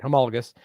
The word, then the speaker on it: homologous: Homologous.